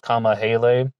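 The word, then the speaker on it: Kamahele: and Jeanette Kama Hale, K-A-M-A-H-E-L-E. I heard some people pronouncing her name Kamahel, but I think this one is pronounced Kama Hale, and she was age 20.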